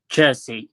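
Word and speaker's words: Chiesa: is magnificent how do you say his name jersey chelsea i think yeah i know who he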